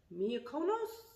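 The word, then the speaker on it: Miyoko's: tastes really well um the miyako nose i think is how you say it i always say it wrong let me screw it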